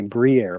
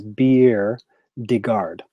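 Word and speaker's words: bière de garde: biere de garde beauty I want to say Briere but i think it's biere de garde she is a Belgium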